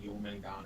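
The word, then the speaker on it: Jörmungandr: We should use, like, Jormungand or something. Use what? Jormungand. The serpent? Oh, Jormungand? Yeah. Did I say it wrong? Sometimes you say the R, sometimes you don't. It's a little weird.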